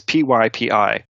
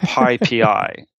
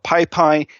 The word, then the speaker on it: PyPI: The Python package index, the abbreviation is PYPI. And it's pronounced PyPI, but I've heard so many people call it PyPy, Pippy, Pipey, PP.